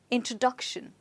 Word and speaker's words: introduction: try it again introduction so where do you think the stress is well the stress is on this syllable and remember that the stress before shun is always on the syllable before that okay so it's introduction right